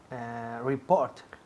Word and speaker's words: report: Report. Repeat. Report. Muy bien. Report. Report. El énfasis cae en la segunda sílaba.